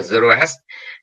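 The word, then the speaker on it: Zoroastre: thuyết là ông Zarathustra, tiếng Pháp gọi là Zoroastr, đọc tiếng Pháp là Zoroastr, còn Đức Anh nó đọc là Zarathustra.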